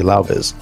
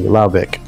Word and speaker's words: Laubec: Be easy, Laubiz. C. Like a cat. C, Laubec.